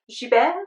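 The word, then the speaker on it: Gibert: woods France is actually a bookstore called Zhu Ben and it's spelled GI be ERT and that's just a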